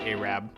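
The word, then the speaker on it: Arab: in the city of a Rab in Alabama that's right it's pronounced a Rab go look it out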